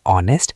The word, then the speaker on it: honest: The H is totally silent. The first sound you actually hear is O, a vowel sound.